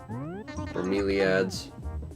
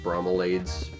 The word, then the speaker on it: Bromeliads: Bromeliads. Or as my old boss used to pronounce it, bromelades, because he didn't know how to pronounce plant